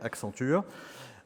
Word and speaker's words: Accenture: I'm going to pronounce it in the French way, Accenture, one of the world